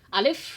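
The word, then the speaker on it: ألف: Alif pakai F ya. Alif karena alif itu memiliki sifat hamas. Jadi ketika diucapkan alif ya, udara itu tetap keluar nggak tertahan. Alif. Jadi pakai F bukan P. Kalau pakai P balem alif. Salah itu. Pakai F. Alif. Jadi udara tetap ada keluar.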